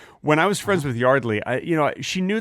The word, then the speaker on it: Yardley: her Yardley her name is Yardley Smith okay Yardley uh is that how you pronounce it really yes her name is Yardley